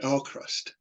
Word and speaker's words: AVKRVST: Well, you read the V for a U and you get Alcrust.